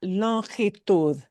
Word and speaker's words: longitud: Tenemos longitud, sí, pero en español se pronuncia longitud.